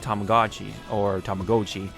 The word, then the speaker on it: Tamagotchi: And these suckers, sold like Tamagotchi, which is how it's really supposed to be pronounced.